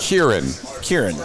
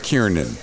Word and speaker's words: Kieran: No, I can tell you, I will say Kieran Culkin. Really? Yeah. Well, but that was your fault. It was, no, I was a contributing factor, but it was not my fault. Kieran. Not Kiernan.